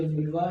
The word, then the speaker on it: vulva: ये वुल्वा है, कभी भी हलवा मत बोल देना इसको।